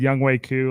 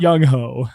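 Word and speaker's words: Younghoe Koo: watching that on and somebody said young wei ku like on the on the broadcast and chat was like that's not how you say it i'm like yeah it's actually how you pronounce it it's not young ho it's because he's such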